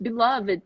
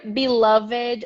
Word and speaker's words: beloved: exception to the rule the word beloved or beloved has to it can be pronounced in two ways i was reading about